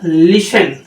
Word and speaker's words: listen: जैसे LISTEN। अब इस वर्ड को ये देखिए इस प्रकार से पढ़ा जाएगा, टी को साइलेंट कर देंगे तो क्या वर्ड पढ़ा जाएगा, ये पढ़ा जाएगा लिसन।